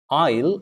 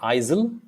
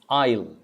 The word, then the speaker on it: aisle: this word last time it is isle isle it's not isil it's isle isle is a pathway between